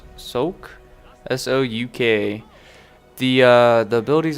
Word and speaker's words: Souk: uh the map I don't know how to pronounce this sulk sulk s-o-u-k the uh the abilities I'm using are